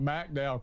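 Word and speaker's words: McDowell: Uh, I grew up in Mcdow County, Mdow County as it's pronounced local county.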